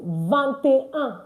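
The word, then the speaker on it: vingt: I trust and believe you're going to also perfect the pronunciation in this class. Okay? So 21 is vant.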